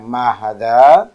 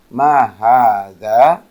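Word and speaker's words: هذا: Untuk pengucapan hadza, kalau kita lihat huruf h-nya tidak ditulis ada alif, tapi ia dibaca panjang. Jadi bukan dibaca ma hadza, tetapi dibaca ma hadza.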